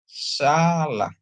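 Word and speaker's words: סלח: Terus ada samek, dikasih dengan kamats, dia bacanya sa. Lamet dikasih dengan patah, bacanya la. Tambah he, ya. Jadi salah, ya. Bacanya jadi salah.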